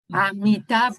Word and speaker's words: Amitav: Amitav, ¿cómo se pronuncia?